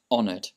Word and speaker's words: honored: But in this case, honored, the H is silent. So you just uh imagine it's not there. So you don't say honored, it's honored.